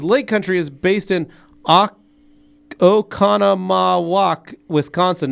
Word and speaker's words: Oconomowoc: Don B says, Lake Country is based in Oconomowoc, Wisconsin. Not sure if you were running with the pronunciation. Love you guys. Have a great weekend. Yeah, thanks, Don. Now, I was just saying, Oconomowoc, because that's how it's spelled.